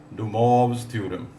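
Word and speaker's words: De Moivre: इन फ France in French correct pronunciation is डम थ्योरम for convenience डियर students व से मोरेज थ्योरम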